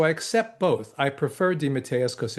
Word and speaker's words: DeMatteis: grandparents were from and the way they pronounced it was even slightly different. They pronounced it dim with just like one long, you know, as opposed to the and I said I'm not changing it again.